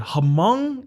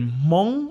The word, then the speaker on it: Hmong: um now how do you say is it hamang or is it Hmong or like and he literally we spent like